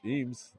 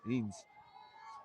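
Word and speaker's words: Ehnes: Bases up Eames Eames. I'm sure I'm saying this wrong. E H N E S Eames. We'll say the H is silent.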